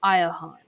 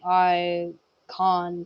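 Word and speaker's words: Iachon: i a c h o n but it's pronounced aahan everyone kept on saying ion so I was like aahan oh at this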